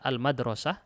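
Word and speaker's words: المدرسة: Ini bisa dibaca al-madrasah. Ini juga bisa dibaca apa? Al-mudarrisah. Al-madrasah sekolah, al-mudarrisah guru. Guru perempuan.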